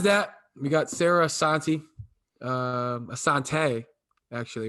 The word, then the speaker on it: Assante: Assante, actually, right?